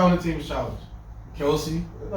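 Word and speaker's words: Kelce: It's not Kelsey, it's Kels. It's Kelsey. People started saying Kelsey, and him and his brother just started going with it, but it's really Travis Kelsey.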